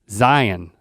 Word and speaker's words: Zion: It's Zion to the locals. That's been on my mind for a few days. Zion. Zion. We like to hit the second syllable, man.